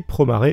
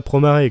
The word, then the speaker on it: Promare: Et oui, c'est Promare et pas Promare comme je le prononcerai à la japonaise d'habitude.